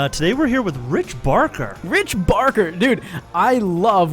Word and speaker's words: Barker: Barker. Don't pronounce the R's.